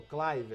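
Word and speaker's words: Kluivert: para ele a pronúncia desse Chloe Vera que é o clyver Cliver ruiva é como ele ele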